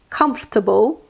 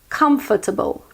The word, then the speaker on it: comfortable: will end all confusion you can either say it with three syllables comforta bow comfortable or with four syllables comforter Bowl comfortable I personally say it